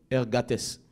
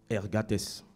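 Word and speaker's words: ἐργάτης: c'est un thème grec je vous épargner la prononciation bon je vous donne je vous donne la prononciation on sait jamais hergatess hergatess voilà et ce mot c'est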